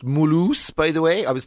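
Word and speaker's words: Mulhouse: and from there you go on trips like M house or it's pronounced Mulo by the way I was pulled up on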